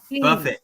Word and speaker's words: Buffett: I'm just gonna say, Jimmy Buffett said it best. Said it best. Buffett, not buffet. Say it right.